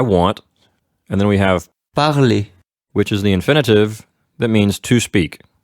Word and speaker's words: parler: And the infinitive we're learning here in this lesson is parler, that's the verb for speaking. Keep in mind that we will not pronounce the R at the end.